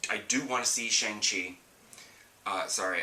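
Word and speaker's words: Shang-Chi: do want to see shang chi uh sorry i know it's pronounced shang chi but i've always ever since i read the comics way way way long ago it's always been shanky and it's going to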